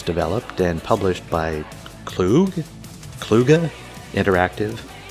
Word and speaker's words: Kluge: and published by klug kluge interactive well as an old school developer i'm not going to pronounce it cluj out of respect you can find it